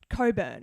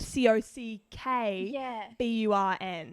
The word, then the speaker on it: Cockburn: you call a town coburn when it's spelt c-o-c-k b-u-r-n and i've never heard of a silent ck neither that doesn't exist you know what it sounds like is that that was someone's last name and they've named the town after him yeah but it's kind of been one of those situations where everyone calls him cockburn but he's like no it's not that it's it it's coburn yeah coburn was very